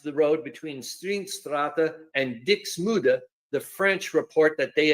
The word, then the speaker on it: Dixmude: I'm going to pause so I can go and find out how to pronounce these flipping words. Hold on. Well, supposedly it's Dixmude, not Dixmude or whatever, so I'll do it with the